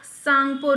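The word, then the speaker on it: Tsangpo: भी कहा जाता है इंग्लिश में अगर आप देखेंगे यह त सांगपो आपको लगेगा ठीक है टी इसमें साइलेंट होता है त सांगपो लेकिन यह है क्या सांगपो रिवर सांगपो रिवर कहते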